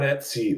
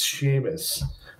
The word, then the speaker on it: Seamus: And I'm like, it's not Etsy. Like, my company's name is not Etsy. It's Seamus.